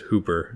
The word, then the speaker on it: Whooper: It says specifically pronounce it Hooper.